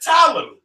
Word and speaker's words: Ptolemy: That's why it's Ptolemy. The P is silent because ain't no P.